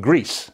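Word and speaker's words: GRECE: And he founded a group called Greece. It's spelled G-R-E-C-E.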